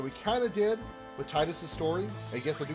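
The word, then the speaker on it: Tidus: titus i i know i know it's officially titus even though even even though squaresoft itself cannot decide how it's actually pronounced because in kingdom hearts waka does admittedly they call him tinus in final fantasy kingdom selfie says titus so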